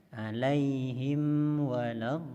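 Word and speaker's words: وَلَا الضَّالِّينَ: Begitu juga sukun huruf mim nanti akan bersambung dengan huruf berikutnya, huruf waw. Jangan sampai seperti berhenti atau seperti saktah kalau kita bacanya dengan wasol. Alaihim waladdallin, berarti bunyi huruf mim terputus seperti saktah baru huruf waw. Seharusnya alaihim waladdallin, bersambung bunyinya.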